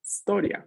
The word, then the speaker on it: storia: inicial que tenemos aquí no es historia es historia la historia inicia con la s la palabra la pronunciación lo inicia con una no hay que rellenarlo que